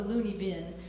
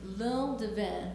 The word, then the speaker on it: lune de vin: We call it the loony vin, but it's not loony. It's lune de vin, or something like that, meaning wine moon.